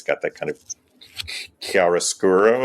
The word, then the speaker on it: chiaroscuro: It's got that kind of chiaroscuro. Am I pronouncing that correctly, Chris? Chiaroscuro Sure. lighting that Caravaggio is so associated with as a painter.